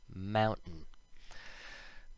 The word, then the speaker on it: mountain: slowly, we might say the T, like in mountain, but when we speak quickly, we take out the T sound, and it sounds like mountain.